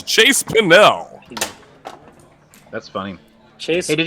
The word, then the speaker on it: Pennell: It's actually Pennell. pronounced Pennell.